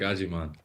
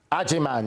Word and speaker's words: Agyemang: stir about the pronunciation could you give us pronounce your name please for us yeah um my name is aiman aiman yes I said the same thing in back